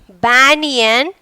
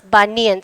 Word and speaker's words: banyan: The word banyan tree. Don't pronounce banyan.